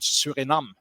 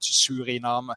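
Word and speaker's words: Suriname: South America and there was one colony called Surinam there uh I don't know how it's pronounced in in in in English but Surinam s u uh r i uh n a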